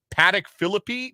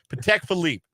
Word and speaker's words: Patek Philippe: his Patek Philippe wristwatch I only know how to pronounce it because I listened to rap music otherwise I would have I would be like Paddock Philippi no no Patek Philippe a Patek Philippe wristwatch